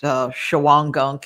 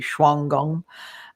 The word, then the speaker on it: Shawangunk: There's some caves in some people pronounce it Shawangunk. It's apparently Shwangung Mountains to the west of Pine Bush.